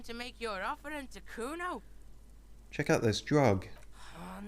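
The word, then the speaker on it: Cuno: And you fucking asked me to nick it, Kuno.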